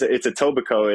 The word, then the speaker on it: Etobicoke: Now, how do you pronounce the city? I don't want to kill it. No, it's Etobicoke.